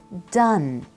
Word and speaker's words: done: Careful with the pronunciation here, it's done.